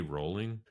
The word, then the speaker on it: Rowling: Rowling write that last chapter before she built out the rest of the lore? J.K. Rowling. Rowling. I thought it was Rowling. It's not pronounced Rowling.